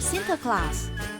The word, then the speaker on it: Sinterklaas: 这个名字的由来其实是荷兰语中圣尼古拉读作 Sinterklaas，说英语的人听着听着，慢慢的就变成了 Santa Claus。